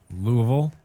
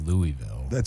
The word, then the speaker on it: Louisville: Louisville?